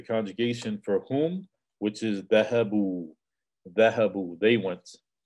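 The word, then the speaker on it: ذهبوا: So notice there's an aleph at the end of the word which is not pronounced. There's an aleph that basically has a sukoon on it and you do not pronounce it.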